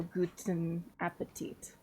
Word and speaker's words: guten Appetit: You would say you would separate the words. So guten Appetit, but you.